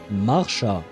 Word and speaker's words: Marsha: Although I suppose since she's German, I should pronounce it Marsha, right? With a bit more of a hard R instead of a soft English R, I think.